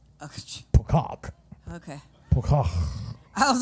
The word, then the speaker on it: Pocock: Oh, and Paul Pocock said the E is silent. That helps. So it is P-O-C-O-C-K. Silent E. Pocock.